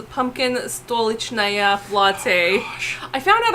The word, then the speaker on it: Stolichnaya: But no, it's pronounced Stolichnaya. My Russian friends, adopted family, we're like, no, it's not Stolchnaya, it's Stolichnaya.